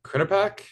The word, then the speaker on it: Quinnipiac: Tell me if I'm pronouncing this wrong, but it was Quinnipiac, Yeah, Quinnipiac University.